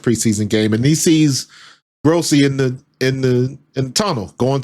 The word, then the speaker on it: Grossi: Gi Graci, I think it's pronounced Grossy, but he's an old school reporter up in Cleveland.